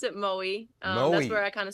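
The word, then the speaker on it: Moe: hometown yeah it's a very small town we pronounce it Mo that's where I kind of spent all mo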